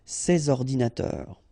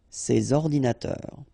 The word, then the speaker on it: ces ordinateurs: and then ordinateur, computers, so you should make the liaison between s and o, ces ordinateurs, ces ordinateurs.